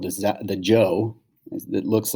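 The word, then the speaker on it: Zhou: done here we go this is how it's pronounced joe joel kind of joe right okay so the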